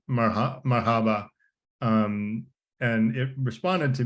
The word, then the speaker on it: Marhaba: um and so here it says it's pron pronounced Mar Marhaba um and it responded to me in Spanish